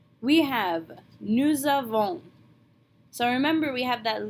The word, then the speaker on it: nous avons: So we're going to smash the two words together and pronounce the S on the end of nous like a Z, nous avons.